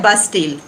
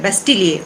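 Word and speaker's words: Bastille: इसको कहा जाता है बास्टील। अब इसको आप बास्टील कह सकते हैं, बेस्टील कह सकते हैं, लेकिन अगर आप फ्रेंच इसका प्रोनाउंसिएशन पूछेंगे तो वो है बेस्टिलिए, उसको बोलते हैं बास्टिलिए।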